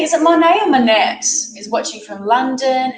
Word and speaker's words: Monet: better i was thinking is it like the painter monet with the silent t over that's one e two t's i think no it's m-o-n-e-t monet so i was